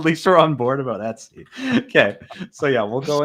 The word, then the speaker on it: Etsy: What do you say? I say Etsy. Me What do you too. say? Okay, so you say it the correct way. The ETC people are insane.